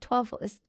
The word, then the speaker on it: Twaffles: It sounds so funny coming out of my Tiny Travelers, but it's pronounced Twaffles because, you know, toddlers.